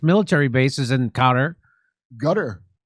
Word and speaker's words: Qatar: Gutter or you say gutter. I'm telling you that's how you say it.